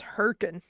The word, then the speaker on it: Hurricane: pronounce herkin.